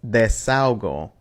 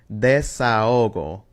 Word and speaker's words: desahogo: So written like this, some people might pronounce this desahogo, but the H in there adds some space, which is like a little speed bump inside of the word that separates those sounds.